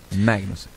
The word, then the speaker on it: Magnussen: Kevin Magnussen, porque ele fala Mag. Você que é dinamarquês sabe melhor do que eu a pronúncia. Magnussen.